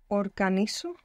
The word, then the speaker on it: organizo: Organizo. Organizo. Good. I will just mention for anybody trying to keep up with the Spanish pronunciation that that Z there is going to be pronounced S.